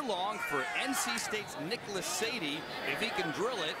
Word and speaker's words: Sade: for NC State's Nicholas Sadie, if he can drill it, and he does. And what is his Twitter handle again, Andrew? His Twitter handle is Smooth Operator, Charles. Like Sade. Because it's spelled S-A-D-E.